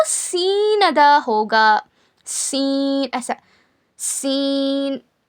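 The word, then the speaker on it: س: ज़ और जब जा को पढ़ेंगे ना सख्ती के साथ पढ़ना ऐसा जा और इसको बारीक पढ़ना लाइटली जा उसके बाद देखिए सीन सीन सीन का क्या मखरज है?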